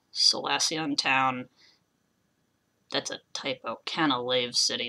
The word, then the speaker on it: Canalave City: Canalave City, not Canalove City.